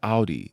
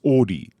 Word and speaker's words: Audi: kept on saying like why do I say Audi it's Audi for the car and I was like